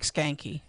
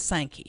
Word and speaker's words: Sankey: So I'm typing an email right now to Greg Skanke. I don't think that's his name. It's not? No, what's his name? Oh, it's Sankey.